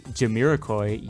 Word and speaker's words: Jamiroquai: It's even got a Jamiroquai, yes that's how it's said, song for the intro.